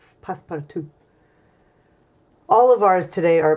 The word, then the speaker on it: passe-partout: And you spell passe-partout P-A-S-S-E, like passe, and then P-A-R-T-O-U-T, part out, but French pronounce passe-partout.